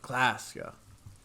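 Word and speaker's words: Klaasje: Classia is pronounced Classia.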